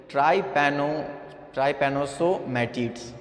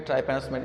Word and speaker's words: trypanosomatids: The pronunciation is really difficult. That's called the trypanosomatids. Okay, trypanosomatids.